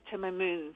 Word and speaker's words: Timamoon: spelled slightly different for the aces but you pronounce it timoon so we that's where we got our name